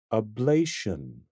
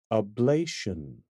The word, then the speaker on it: ablation: is pronounced ablation ablation ablation emphasis on the second syllable ablation look at these